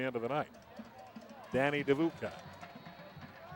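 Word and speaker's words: Dedbukaj: of the night Danny devooka my problem is that it's spelled d-e-d-b-u-k-a-j and uh your North American announcers are not really used to seeing the consonant combination of D followed by Avi Uka pulls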